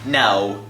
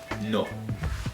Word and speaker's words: no: You don't say it like no like an Englishman or an American. You say it no.